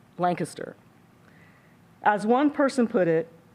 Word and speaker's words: Lancaster: And if you pronounce it Lancaster, it is a dead giveaway that you are an outsider.